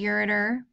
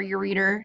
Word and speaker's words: ureter: of them everybody's got a ureter or your reader depending on how you want to pronounce it that goes down from